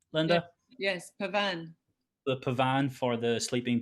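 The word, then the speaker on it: Pavane: Is that the pronunciation, Linda? Yes, Pavan.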